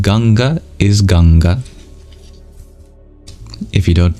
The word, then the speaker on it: Ganga: 26th chapter is called ganga is ganga if you don't know ganga or uh also known as the Ganges which is not how you pronounce the original Sanskrit is a holy River